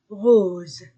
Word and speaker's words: rose: o O U ou s entre deux voyelles Z rose masculin et féminin le